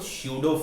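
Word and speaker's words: pseudo: Okay, P यहां पर क्या है बेटा, साइलेंट है, तो स्यूडो फोर्स।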